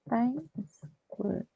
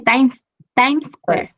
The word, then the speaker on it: Times Square: A ver, Time Square. ¿Cómo se dice? Ustedes que tienen inglés. Se dice Times Square.